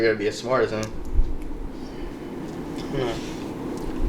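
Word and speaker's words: X Æ A-12: Ash? Yeah. Is that Like the right? XAE was pronounced Ash, and then A12. So Ash A12.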